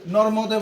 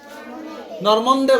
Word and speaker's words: নর্মদে: যেমন এখানে আছে তোমরা ওই নর্মদে বলো, কি বলো এটাকে? নর্মন্দে বলো, কি বলো? যে নর্মন্দে। এইখানে যুক্ত বর্ণ যেটা আছে এটাকে এ বাংলায় কি কি হয়? জুড়ে বলো। ম যোগ ম। তাহলে এখানে কি দন্ত নয় দেওয়া আছে? নর্ম দন্ত নয় দেওয়া আছে। তো তোমরা নর্মন্দে বলো কেন?